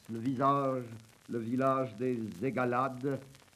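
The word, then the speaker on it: Aygalades: visage le village des agalades je crois qu'il faut prononcer eigalad est à 6 km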